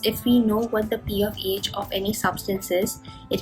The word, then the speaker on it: pH: of hydrogen, that is P of H, this is how we pronounce it, it's not pH, it is P of H, at least that is what I was taught.